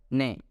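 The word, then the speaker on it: 네: Combinedly, it is pronounced as ne, which means yes in Korean.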